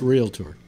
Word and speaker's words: realtor: she had a scream it's pronounced real to her so never come on